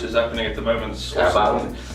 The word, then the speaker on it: Carabao: Carabao? How do you pronounce it?